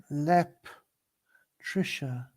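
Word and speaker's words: Leptirica: is that a p oh no I was pronouncing with an s an L I'm sorry LEP Trisha is that correct that's the way he has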